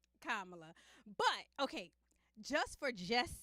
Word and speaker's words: Kamala: They don't call her Camilla.